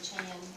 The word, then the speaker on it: Chan: Chin or Chan. Which one is it? Which one is it? Which one? How do I pronounce his name? Chan. Chan. My understanding Chan.